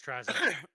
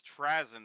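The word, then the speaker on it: Trazyn: Yeah, it's Trazen. Yeah, apparently apparently I've been saying it wrong all this time. Apparently it's Trazen the Infinite and I'm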